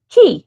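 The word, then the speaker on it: Quay: I said I thought it was K, but then I found out it's actually key.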